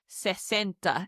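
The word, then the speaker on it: sesenta: Moving on to 60 which is centa.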